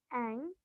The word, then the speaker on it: Ang: small ladaki village called Ang one just now I have told you the pronunciation is ang Ang one everyone rush